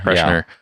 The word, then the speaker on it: Kreischer: Kreischer.